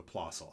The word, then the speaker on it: Plössl: the name of apostle would probably pronounce plicil p-l-o with an umlaut ssl and he came up with what here in america we call the possible eyepiece and the possible is